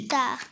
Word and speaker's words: guitare: Alors, si on veut, lorsqu'on ajoute le U devant G, qu'est-ce que ça Guitare. donne? Guitare. Très bien. Alors, G-U-I se prononce Gui. Guitare.